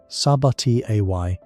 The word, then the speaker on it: Sabatier: A reaction named for the chemist Sabatier, pronounced Sabati Ay, which combines that waste carbon dioxide with the waste hydrogen to regenerate water and produce methane.